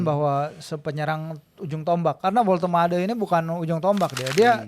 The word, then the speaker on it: Woltemade: Kalau kita ke Newcastle kan sekarang dapat striker tinggi ya, Woltemade. Nah, Woltemade. gimana sih pronounce-nya itu?